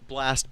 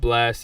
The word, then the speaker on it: Blxst: Blast Before You Go.